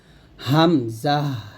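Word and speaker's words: همزة: এখানে লেখা আছে হামজাহ হামজা যখন আমরা উচ্চারণ করব হা মিম জবর হাম যা হা জবর যা তা সেকেন্ড হয়ে যায় হামজাহ এরকম সঠিক উচ্চারণটা আমার সাথে করেন হামজাহ হামজাহ হামজাহ এরকম তো হামজার মাখরাজটা হচ্ছে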